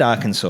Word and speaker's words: Arkansas: oh that is brutal i said arkansas right i mean correctly right because it does not i don't think it sounds like the way that it's spelled though the breadth community and